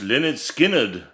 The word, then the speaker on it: Lynyrd Skynyrd: But nonetheless, we're going to chat about their debut album today, pronounced LYNYRD SKYNYRD.